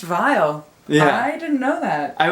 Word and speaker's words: Viall: Bachelor this just in his last name is pronounced vile I didn't know that